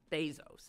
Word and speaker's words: Bezos: Bezos, I guess is how he pronounces it.